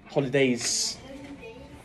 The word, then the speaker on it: holidays: yes please during the holidays holidays don't forget it's s please holidays during my holidays can we pronounce the S please thank you you saw